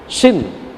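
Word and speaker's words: שִׁין: शिन। इसको क्या बोलते हैं? शिन बोलते हैं। लेकिन अगर ये शिन के राइट साइड में यहां पर डॉट होगा तो ही इसे क्या बोलेंगे? शिन करके बोलेंगे।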